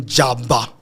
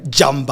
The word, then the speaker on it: Jamba: J A B A. I don't know whe I'm pronouncing it right, but it's there's an M. Jamba, I think.